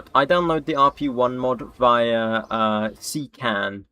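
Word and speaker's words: CKAN: I download the RP1 mod via 𝐒𝐞𝐫𝐶an. It's spelled like C as in the letter C, and then 𝐾AN.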